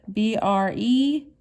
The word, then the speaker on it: bread: up top bread bread b-r-e-a-d bread bread so that has a silent a in it you don't hear the a number five chicken chicken